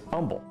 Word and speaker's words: Humble: The H was silent, so he pronounced it as Humble.